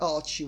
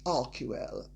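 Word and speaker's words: Archewell: using our key well it's not pronounced Archie well by the way and if Harry and Megan don't know how to pronounce something that has Greek roots they can mispronounce it and pronouncing it correctly it's our key well and if they they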